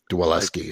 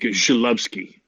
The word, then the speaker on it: Zalewski: Dwaleski. So the Z is silent. Yeah, it's like when my grandfather would say it in Polish, it was like Zalewski.